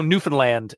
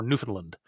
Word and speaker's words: Newfoundland: some other way of saying it like how Newfoundland isn't Newfoundland or Newfoundland it's Newfoundland like that's how you properly say